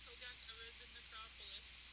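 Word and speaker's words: Hogak, Arisen Necropolis: Yes, Hogak Arisen Necropolis.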